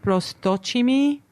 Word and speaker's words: Prosdocimi: But I didn't recognize Prosdocimi as like a very, say, Latin name or. It's actually Italian. Oh, okay. Okay. Yeah. So my mother's father and grandfather were Italian. It's actually pronounced Prosdocimi.